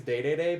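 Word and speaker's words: Dedede: unsure about DDD because I know he's pronounced differently he's day-to-day but I think they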